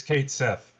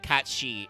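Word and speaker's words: Cait Sith: Yeah, it is Kate Sith. Yes, they don't pronounce it Kati in seven, which is weird because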